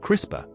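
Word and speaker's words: CRISPR: Much like building with Lego bricks, at the forefront of synthetic biologies capabilities is CISPR technology, often pronounced crisper.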